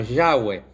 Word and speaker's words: Yahweh: En el hebreo, Jehová se escribe sin vocales, y se pronuncia un poco como Yahweh.